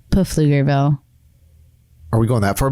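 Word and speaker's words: Pflugerville: all right so set the scene germantown texas flugerville right before the recession what was going on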